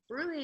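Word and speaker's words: bruit: spelled oops this to go to everybody bruise is spelled b r u since you asked its and bruy is turbulent blood flow and so that murmur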